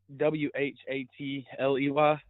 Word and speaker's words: Watley: How do you spell that name? That's really cool. Uh, W A T L E Y.